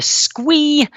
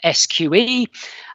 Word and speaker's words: SQE: examination or for short the sqe some people pronounce it the squee we're a serious regulator though so we're not that fun we pronounce it the sqe and whenever i do sessions on the sqe